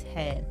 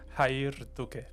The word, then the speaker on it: Jair: going to welcome my first guest which is hair. Hello hair. How are you doing? Good. Fiona. All right. So, it's hair. But I know I'm not saying that exactly correct. How should it be pronounced? Hayer.